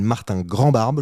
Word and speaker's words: Martin Grandbarbe: Tu t'appelles Martin Grandbarbe, je le prononce bien ? Ouais, c'est bien.